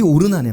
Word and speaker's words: 오르난: 그게 오르난의 말이었습니다. 오르난이 되게 대단한 인물인 거죠. 그 마음이 그 그렇게 연결이 되는 겁니다.이 오르난이 누군지 성경에 잘 설명이 없습니다.요 사람만 나오죠. 근데이 오르난은 오르난이라는 말은 히브리식 발음입니다. 오르난.